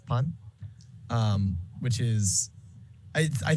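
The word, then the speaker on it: パン: found it interesting that the japanese word for bread is pun um which is i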